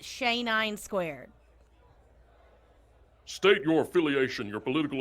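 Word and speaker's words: XAE9²: gets my name right it's x a e nine squared but you can just pronounce it shay nine squared state your affiliation your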